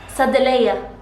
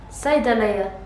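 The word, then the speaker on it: صيدلية: Sadeleya. No, that's wrong. Saydaleya.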